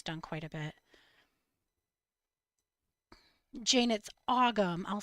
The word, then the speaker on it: Ogham: Janet's Ogham. I'll spell it for you.